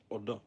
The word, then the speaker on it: Odda: That's how you're supposed to say it. For me it sounds like I'm saying Uda, which is the name of a girl.